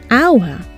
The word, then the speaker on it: hour: see an age but we hear a vowel sound at the beginning hour and not hauer so